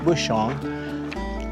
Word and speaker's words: Bushong: coming up on bushong i think i saw you pronounce it bushong b-u-s-h-o-n-g and that's five